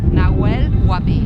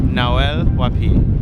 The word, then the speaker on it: Nahuel Huapi: The H is silent. No suena. No es muda. Silent. Silent, muda. Nahuel Huapi. Nahuel Huapi.